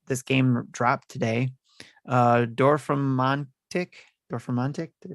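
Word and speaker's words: Dorfromantik: today and it this game dropped today uh door from montic or for montic they pronounce it right yeah uh dorf romantic that's a lot of letters yeah d-o-r-f-r-o-m-a-n-t-i-k door from Mantic so it is a city Builder puzzle game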